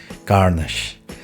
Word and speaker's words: Carnage: No es porque si no lo puedes pronunciar en inglés, mejor no lo pronuncies, amigo. Carnage.